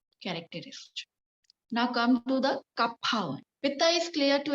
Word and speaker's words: Kapha: Pronunciation Kapha. Kapha.